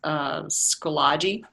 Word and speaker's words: Schoology: I recently have joined a group through, I don't know if I pronounce it right, but it's Schoology.